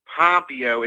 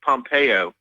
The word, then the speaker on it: Pompeo: pronounce uh Mike Pompeo it's not Papio it's Mike Pompeo okay yeah I'm saying yes I was putting Liam fastest on the wrong syllable Mike what is it pump Mike Pompeo okay all right he